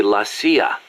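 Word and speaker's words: la CIA: So the story goes around here they say lassia instead of CIA. Huh. Um nothing strange about it. That's how it's pronounced when you read it in Spanish.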